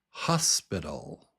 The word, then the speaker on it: hospital: Hospital. Do you hear it? The first syllable is strong, hos, and then pital.